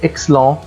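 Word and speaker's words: excellent: هنا اقول اكسبليك اكسبليك زي اكسلون اكسلون ماتش اكسلون خطا اكسلون يعني ممتاز او كمان بتبقى مثلا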